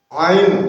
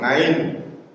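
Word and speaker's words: ع: Ain bukan ngain.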